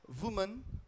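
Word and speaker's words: women: आपके लिए एक है वुमन वुमन मैन है लेकिन ये वुमन हो जाता है और अगर इसका बहुवचन करेंगे तो हो जाएगा वमन वमन काफी सारी महिलाए होंगी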